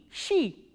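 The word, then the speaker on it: щи: The words that we are going to learn from this letter is she, sh and e, she.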